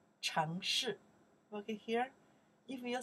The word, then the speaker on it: 城市: Check the pinyin here.城市, okay, now you pronounce 城市, second tone, fourth tone, 城市, okay, 城市, city, 城市,